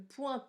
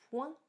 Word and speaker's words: point: Si tu regardes bien, à la fin du mot point dans cette phrase-là, il y a un T que l'on n'entend pas non plus.